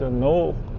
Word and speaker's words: Knole: I can’t even pronounce the word this place . It’s Knole .